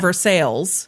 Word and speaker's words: Versailles: in Missouri, they pronounce the L and everything. They call it Versailles, Missouri.